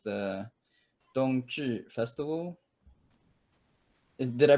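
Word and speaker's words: 冬至: Like maybe like the Dongzhi festival? Did I pronounce that right?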